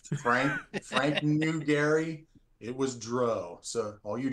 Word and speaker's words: Drow: It was Dro. So all you Drow fans, I believe it.